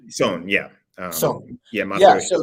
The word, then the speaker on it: Son: Son? Son, yeah.